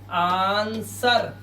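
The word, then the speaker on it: answer: ऐसे ही यहाँ पर आंसर नहीं बोलते, इसको सिर्फ आंसर पढ़ते हैं। क्या पढ़ते हैं? आंसर। इस तरह से आंसर, इसमें डब्ल्यू साइलेंट होता है, लेकिन स्पेलिंग क्या होती है?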